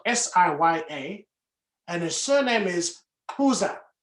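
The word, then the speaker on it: Xuza: and his surname is kuza in south africa we have uh clicks in our language koza which is x-u-z-a so let me tell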